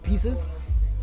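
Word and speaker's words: Peaces: latest project is called Pieces. Uh, it's spelled P E A C E P E A C E S. So, pieces.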